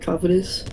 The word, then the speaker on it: Covetous: How do you say that? Covetous. Yeah. Kitus. Kovus.